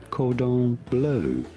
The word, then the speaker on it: cordon bleu: They said, cordon bleu. Well, cordon bleu, please. It's like the first time you've gone to the restaurant. Could I have some cordon bleu?